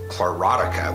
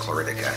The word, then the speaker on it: chlorotica: At first I thought it was chlorotica, which I thought was interesting, but I googled it and it turns out that it's more correctly pronounced chloridica.